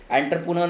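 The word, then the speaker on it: entrepreneur: ठीक है, कई लोगों को नहीं समझा, आते पुते नार कर देते हैं, एंटरप्रेन्योर नार कर देते, कुछ भी कर देते हैं।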